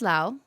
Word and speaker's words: Lau: my name name is Lao um for those of you guys who don't know me and everyone's always like how do you pronounce it it's literally like saying wow with an L I don't know how